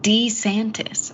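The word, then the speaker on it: DeSantis: we'll have to see and Ron de santis pronounced his own name in an ad D santis I'm Ron D santis he did yeah are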